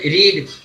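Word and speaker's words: read: आर ई ए डी रीड लेकिन इसकी उच्चारण सेकंड और थर्ड फर्म में बदल जाता है फर्स्ट फर्म में रीड बोला जाएगा इसी को सेकंड और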